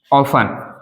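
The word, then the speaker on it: often: सकते हैं जैसे कि ऑफ ओ एफ टी ई एन ऑन ऑन का मतलब होता है अक्सर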